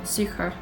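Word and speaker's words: Sucre: the name of that it's like sucra i don't know how to pronounce it s-u-c-r-e yeah i like french for sugar sucra okay because in south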